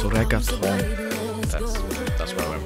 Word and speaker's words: reggaetón: Ah, it's pronounced reggaeton.